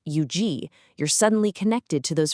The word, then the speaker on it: Huger: When you know that Huger is pronounced Eugi, you're suddenly connected to those French settlers from centuries ago.